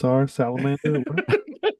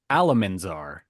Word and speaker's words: Alamanzar: Well, let's check on Salamander. It's okay, Oliver, because I said it wrong. It was actually Alamanzar.